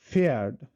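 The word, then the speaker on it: Pferd: যেমন এখানে দেখেন ফেয়ার্ড, ফেয়ার্ড, এটাকে আমরা ফেয়ার্ড বলতেছি, ফেয়ার্ড মানে হলো হর্স, ঘোড়া। এখন এই ফেয়ার্ড এর পিটা কিন্তু আসলে উচ্চারণ হচ্ছে না, এটা সাইলেন্ট থেকে যাচ্ছে, যে কারণে এখানে বলা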